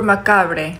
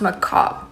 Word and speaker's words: macabre: I heard it's super macabre. Macabre? I'm pretty sure that word is pronounced macabre. No, there's no way. There's no way a bre could turn into a cob.